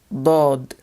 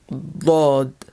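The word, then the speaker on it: ض: Letter Dod, Dod. This is a very emphatic D sound.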